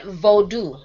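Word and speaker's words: Vodou: I noticed you said Vodu.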